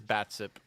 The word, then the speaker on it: Batsup: Batsup, like ketchup, but it is Batsup.